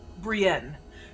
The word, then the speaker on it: Brienne: You said Madame Briette? Is that what you said? Brienne. Brienne. Mademoiselle de Brienne.